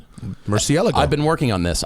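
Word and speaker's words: Murciélago: pronounce that correctly nobody no one puts the exit in the right place right they all say Murcielago which is wrong mercy Ella I've been working on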